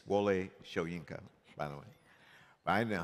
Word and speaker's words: Wole Soyinka: remember in the mail it's Mr sworienko it's Wale shoyenka by the way I know how to say